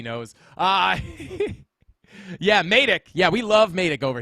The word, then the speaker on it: Matic: As you guys know, that is how you pronounce the word. It is Matic.